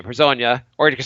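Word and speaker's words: Hezonja: Like at the 3 and the 4 in this team, we got Lance Thomas, We got Hazonia. Herzanya. I've kind of learned how to pronounce his name. Herzanya, or you can say Mario, which is easier.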